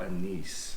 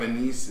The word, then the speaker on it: anise: thought it was Anis I thought it was an Anise is the correct way of saying it tomato tomato different